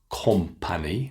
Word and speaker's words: company: the letter O, and students so often want to pronounce an O sound. But it's not love, company, no. None of those sounds are correct. We continue with the short ah sound.